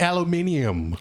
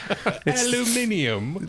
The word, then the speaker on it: aluminium: think it's titanium and aluminium aluminium good pronunciation that rare British Earth metal that only comes from the British aisles aluminium where you got to add those extra 's I also have another